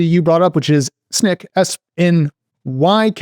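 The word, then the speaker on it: Snyk: cuz the spelling's crazy Snick Snick SN y c so the Y is an i Snick and no C if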